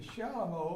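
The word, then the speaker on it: chalumeau: Not spelled like it sounds, C-H-A-L-U, M-E-A-U. Why is it called that? Anybody know? The Shalom was a precursor to the clarinet, an instrument.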